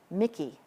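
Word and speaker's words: MICI: Mickey, everything has a nickname. All acronyms are pronounced.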